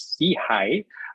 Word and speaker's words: SIHI: welcome you on board see high which we pronounce as see high uh stands for social